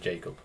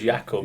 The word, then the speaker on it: Jakub: to more common you when you introduced yourself to me you said Jacob so called you Jacob ever since but then I on your Instagram it is ycob like I would pronounce it ycob seeing your name yeah but because you introduce yourself as Jacob it's like oh it's Jacob yeah yeah exactly so